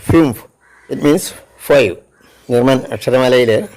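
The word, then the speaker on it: fünf: N Sean means beautiful F യു ഉംലോട്ട് എൻ F fume it is pronounced as fume it means five German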